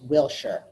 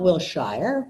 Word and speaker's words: Wilshire: Shire now everybody knows it's Wilshire at least everybody local it's Wilshire not will Shire Wilshire but I was